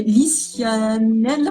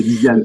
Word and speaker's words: Lisiane: Et Lisianelle, excusez-moi pour la mauvaise prononciation, mais bienvenue à tous. C'est Lisiane, je crois que c'est Lisiane.